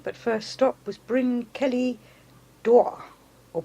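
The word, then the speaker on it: Bryn Celli Ddu: excuse my Welsh pronunciation but first stop was bring Kelly DAW or bring Kelly's V as it is pronounced this is a chamber tomb and inside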